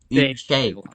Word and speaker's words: Unnskyld: So we're gonna say Unnskyld. what? Gay? What? Unnskyld. Unnskyld. It's spelled UNNSKYLD, but it's pronounced Unnskyld.